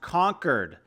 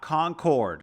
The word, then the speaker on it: Concord: small New England town, it's pronounced conquered, not Concord.